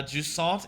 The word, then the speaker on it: Jusant: Uh juant is a French nautical ter term for receding tide. Okay. So, I was saying it right by saying it like all Frenchy and stuff to saw.